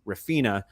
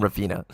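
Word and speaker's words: Raphinha: Yeah, Rafinha. I was gonna say that, but if Paul didn't mispronounce the name, I wouldn't be happy. I'm glad he calls him Rafina.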